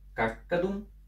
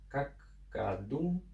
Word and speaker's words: каккадум: Каккадум. Это краткие слоги. На них можно даже не смотреть. И ударение падает на первый слог.